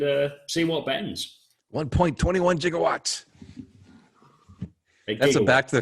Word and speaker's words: gigawatts: about the fact that a gigawatts it's a hard g okay yeah we don't